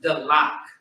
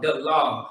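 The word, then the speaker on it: דלת: I want to say it's the lock. No. The lock. No. The log. That's how you say it. The log is how you say door in Hebrew.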